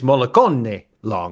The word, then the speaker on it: Mollicone-Long: it's Mollicone-Long.